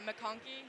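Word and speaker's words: MacConkey: pool gutter right and so we did the makoni that's how you say it we did all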